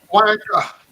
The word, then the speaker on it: Wonka: Because you've been pronouncing it wanker. Wonka.